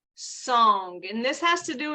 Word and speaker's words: song: internal um experience with Tai Chi is called song and this has to do with our joints and song is spelled s-o-n-g song open joint and what that